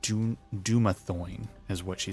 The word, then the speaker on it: Dumathoin: Dumathoin is what she said.